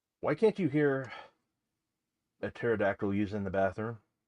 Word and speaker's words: pterodactyl: can't you hear a pterodactyl use in the bathroom because the p is silent this is going to